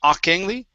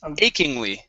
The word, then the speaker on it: achingly: one more time so instead of akly it's achingly achingly familiar achingly familiar uhuh familiar